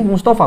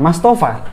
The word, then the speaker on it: Mustofa: can must apa kenmas kalau secara bahasa Inggris kita bacanya Mas tapi di sini Mustofa bukan mastofa jadi ini kan tentang